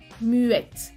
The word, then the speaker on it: muette: Muet, muette. Aquí es diferente. No suena la T, masculino, suena la T, femenino.